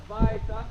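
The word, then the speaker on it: Waita: Vaita. You guys didn't know anything with a W? In Hawaiian, it's pronounced like a V.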